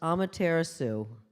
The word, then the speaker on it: Amaterasu: divide it up like that now this is pronounced Amaterasu and Amaterasu is the sun goddess of the